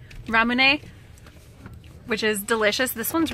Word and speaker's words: Ramune: Anyway, we all got, how do you pronounce this? Ramune. Ramune, which is delicious.